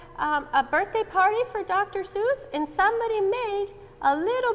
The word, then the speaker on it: Seuss: Does his name rhyme with goose? Yes, it does. I think it's Dr. Seuss. You're right, it is Dr. whoop. Seuss.